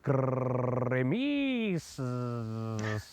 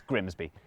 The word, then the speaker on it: Grimsby: But what if we told you it was pronounced Grimis? No, We'd be lying. It's Grimsby.